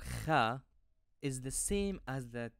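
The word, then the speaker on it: خ: As before, it's helpful when pronouncing these groups of letters to hold your hand at your throat. The Kha will produce a vibration. You can also feel the muscles contracting to make this letter.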